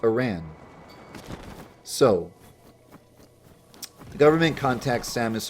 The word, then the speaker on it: Aran: and surviving samis Aran some call her Samus aarin and I would say you it sounds better pronounced Iran so the government contacts